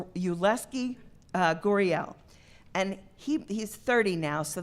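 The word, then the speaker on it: Yulieski Gurriel: is your Leske Guerrero I know it's you less key gory el and he's 30 now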